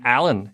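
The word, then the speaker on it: Alain: makes me french-canadian i'm so french-canadian my name alan is spelt a-l-a-i-n i have also lived and worked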